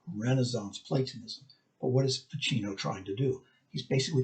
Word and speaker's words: Ficino: She goes, no, it's Pacino, like Al Pacino. Oh! Anyway, Marsilio Ficino.